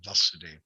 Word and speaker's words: Vasudeva: in the pronunciation okay talk about krishna we say vasudeva long a okay so it's in